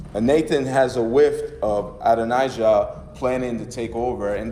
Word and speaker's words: Adonijah: And then in First Kings chapter 1, Adonijah, here we go, that's how you say it.